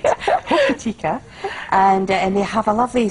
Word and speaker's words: Hokitika: Our friends over in Cockatay, which is outside Hokitika, or Hokitika. I never pronounce it right. Hokitika.